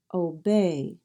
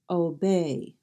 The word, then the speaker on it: obey: is they you'll notice I have added an apostrophe to show where the stress is obey and when you stress a syllable you raise the tone a little bit and you also say it a little bit louder obey now you will